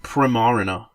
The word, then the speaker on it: Primarina: I pronounce it Primarina because she's prim and she's based. He or she is prim and proper, but also, I think it's based on the water-related word marina, like where boats dock.